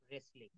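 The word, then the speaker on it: wrestling: তো আমরা কি ডবলিউ রেসলিং বলি না আমরা তাহলে আমরা এই শব্দটা একবার বলি রাইট রং হু রেসলিং।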